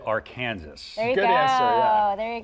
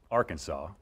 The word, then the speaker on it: Arkansas: in this state yes I'm gonna go with Arkansas now nationally I'll say Arkansas I appeal to the masses there's no age table from now on you'll say Arkansas River yeah certainly when